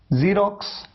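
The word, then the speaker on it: Xerox: मैंने आपसे कहा एक्स का एक साउंड है ज का साउंड, ज, जीरोक्स, जाइलोफोन। जीरोक्स आप जानते हैं, जीरोक्स कॉपी आप निकालते हैं।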